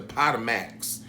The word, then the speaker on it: Potomac: Real Housewives of Potomac, the Potomacs.